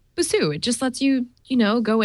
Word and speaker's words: Busuu: So this app is called Busuu, that's the way I pronounce it.